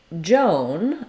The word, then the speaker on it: Joan: of the time when you see OA together, it's going to have that O diphthong O sound. I've written it here with OH to make it clear that it's the O. We also sometimes spell it with OW, like in snow or no, as in I know, K-N-O-W.